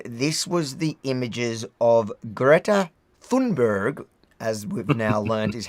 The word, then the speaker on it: Greta Thunberg: Now, once we'd finished, this was the images of Greta Thunberg, as we've now learned is how you pronounce it.